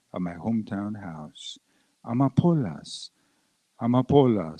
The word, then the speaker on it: amapolas: Amapolas, amapolas, say it slowly. Amapolas. Accent on the penultimate syllable.